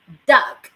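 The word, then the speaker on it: DUKW: that i'm going to share with you is duck d-u-k-w okay d-u-k-w this is pronounced as dark okay you can find this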